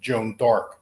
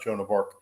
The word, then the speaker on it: Joan d'Arc: supposed to be pronounced Joan d'Arc, not Joan of Arc. She wasn't from a place called Arc.